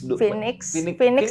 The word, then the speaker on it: Finnigs: Phoenix dikasih sih bacanya sih. Phoenix itu burung mitik gitu loh. Tulisannya F-I-N-I-G-S. Phoenix.